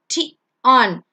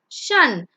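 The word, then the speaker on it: -tion: is on it is it is not pronounced as ton it's Shan so that's how it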